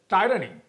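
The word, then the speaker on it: tyranny: I asked a question yesterday and that was टिरनी is dead, what you pronounce as टायरनी.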